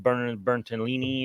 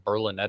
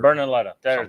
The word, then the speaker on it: Berlinetta: The F12 Bertolini or whatever the fuck you call it? F12 Berlinetta. Or Berlinetta. That's how you say it.